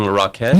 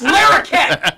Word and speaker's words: Larroquette: John LaRoquette? No! It's no, Larroquette. sir! No, sir! How dare you, sir! It's Larroquette!